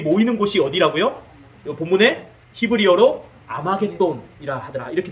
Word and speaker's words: 아마겟돈: 곳이 어디라고요 본문에 히브리어로 아마겟돈이라 하더라 이렇게 돼 있죠 자이 아마겟돈을 정확한 발음은 뭐냐면 하르마겟돈입니다 하르마겟돈 정확한 발음은 히브리어 발음은 이걸 헬라어로 쓰면서 아마겟돈이 되는데 정확한 히브리어 발음은 하루